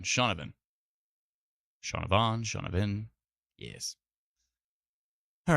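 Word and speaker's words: Shaunavon: Shawna Vin it uh just looking at the spelling of it it's there's a v-o-n but I guess it's pronounced Vin shaunavin Sean Ivan shaunavin yes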